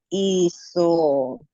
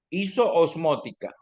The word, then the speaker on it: Isoosmótica: Recordar que una solución puede ser isomótica, ¿sí? ¿Cómo se pronuncia esa palabra? Isoosmótica.